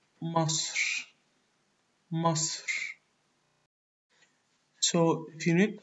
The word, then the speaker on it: مصر: Most of the names of countries in Egyptian Arabic are pronounced almost the same as they are in English, except for Egypt, because Egypt in English is a word of pharaonic origin.